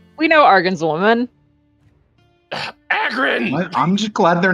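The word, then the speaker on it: Agrun: Also, it's Agrin, not Argon.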